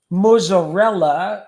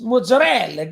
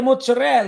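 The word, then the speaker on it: mozzarella: but an Italian and we don't call it mozarella it's Mozel get the mozzarel and it's not pruto it's p give me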